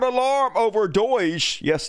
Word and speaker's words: DOGE: Internal government watchdog sound alarm over Doge. Yes, Doge is how you pronounce that.